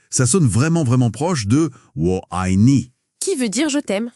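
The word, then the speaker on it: 我爱你: Et si on le dit vite, ça sonne vraiment proche de Wo Ai Ni.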